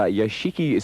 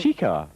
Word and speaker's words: Yashica: It's a Yashichi Sumatra ×3. Is that how I say it? No, it's not how you say it. Pardon? So, David Bailey's not listening. Yashica.